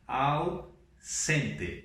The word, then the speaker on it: ausente: Em espanhol não existe esse som Z, então nós temos que falar ausente, como se fosse dois S's aqui, sempre, ok?